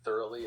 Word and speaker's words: thoroughly: y certainly the word thoroughly is pronounced as thoroughly emphasis is on the first syllable th and the rest of the word flows smoothly it's a great word